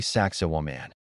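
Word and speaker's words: Sacsayhuamán: The site is called Saxi Woman, pronounced roughly Saxowan.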